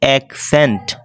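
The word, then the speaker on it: accent: এন্ড হবে এক Saint এক সেন্ট মানে সি একটা উচ্চারণ হবে না আশা করি বুঝাতে পেরেছি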